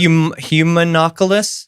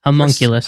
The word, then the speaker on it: homunculus: It's like humanoculus. Homunculus.